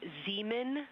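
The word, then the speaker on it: Zeeman: We believe that that is Zemen Crater. Zean. Okay. And can you say the first letter? I may be pronouncing that wrong.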